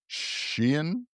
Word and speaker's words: Shein: But and in other interesting news, the Chinese founded fast fashion giant Shein, I think Sheen, it's Sheen. pronounced.